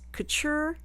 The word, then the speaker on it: couture: I kept thinking, is it couture like a T? It was going to sound like if I said it right, and I didn't mean it that way. So, couture is right.